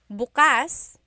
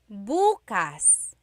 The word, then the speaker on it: bukas: pronunciation if you say bukas buas the emphasis is on the second syllable that means open if you say buas buas emphasis is on the first syllable that means tomorrow very interesting like oh